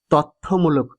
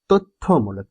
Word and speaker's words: তথ্যমূলক: করো শিক্ষার্থী বন্ধুরা এখানে অনেকেই এই উচ্চারণটিকে তথ্যমূলক উচ্চারণ করে থাকেন কিন্তু উচ্চারণটি শুদ্ধ নয় উচ্চারণ করতে হবে তথ্যমূলক এইভাবে তো যাই হোক